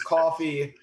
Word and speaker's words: Coffey: good i still pronounced coffee but gotcha right oh that tag might alright tag is coffee c-o-f-f-e-y not um coffee c-o-f-f-e-e not differentiate any pronunciation but a spelling difference because very commonly i've